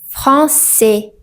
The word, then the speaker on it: français: À la combinaison de A I se prononce généralement comme E. Et n'i pas e aï et par exemple on dit français.